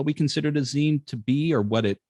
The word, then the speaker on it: zine: we can clearly agree upon in regards to zines and what they are and how they're represented is the proper pronunciation is zine um and if there if